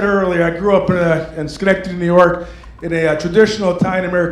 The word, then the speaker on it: Schenectady: I'm from Schenectady, New York, in upstate New York. Who's ever heard of Schenectady? All right. Don't ask me how to spell, but I can say it phonetically. Skin, neck, titty.